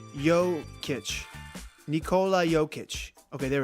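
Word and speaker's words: Jokić: have been great but Joe chick joke cake I wish I could say the name or better come on it's really a problem I got a I got a look online and figure out how to say it named Nikola yo kitch Nikola yo kitch okay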